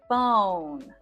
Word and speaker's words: bone: Of course, we don't say the E, but it does tell us, this silent E tells us that the O is long.